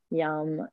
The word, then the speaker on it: Yam: Yam is often pronounced with a zh sound, so ja. The A is very long, and the M is long as well, like we have in the word Om at the end.